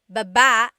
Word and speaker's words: baba: Then there's baba, Baba. Emphasis is on the second syllable.